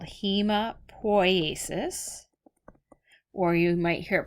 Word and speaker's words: hemopoiesis: Now all of these are made in marrow called red bone marrow, and that process is called hemopoiesis. Or you might hear it pronounced hematopoiesis, and that's the process of forming all blood cells, so it comes from your bone marrow.